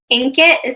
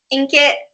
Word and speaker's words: Inkitt: If you don't want to click on that, go on to Wattpad or Inkit. That's how you pronounce it, right? It's Inkit, yeah.